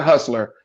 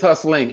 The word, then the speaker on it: Hustling: Okay, it's not Hustler. It's hustling. ING.